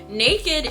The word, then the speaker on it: NA-KD: Okay, Naked is Swedish. So, and it's spelled NA-KD.